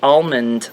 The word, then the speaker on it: almond: do you say it I say almond I put the L in there cuz I love almond so I want the L to be heard I don't know that